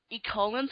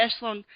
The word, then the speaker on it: Echelon: Oh, for some reason I kept calling them Ecolin. You're trying to pronounce it the way it's written. Yeah, but I bet the Echelon, the combination of the Echelon and the Soldiers are pretty much hyped up.